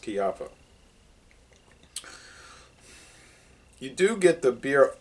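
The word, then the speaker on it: Kijafa: If you ever go looking for Chiaffa, it's spelled K-I-J-A-F-A. It looks like Kijaffa. It's pronounced Chiaffa.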